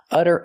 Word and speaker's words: utter: We see the double T pronounced as a fast D because it's between vowels.